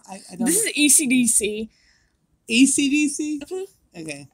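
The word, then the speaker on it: Esidisi: ECDC? Mm-hmm. Okay. Everybody says ACDC because it's easier to pronounce and write, but like, it's ECDC, and I fucking hate him.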